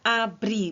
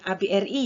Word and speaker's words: ABRI: diakronimkan jadi ABRI ya jadi bacanya abry bukan ABRI ya lalu Surat Izin Mengemudi